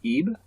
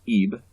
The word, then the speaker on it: Ib: show this game off EEB it is pronounced Eve like Eve but even just just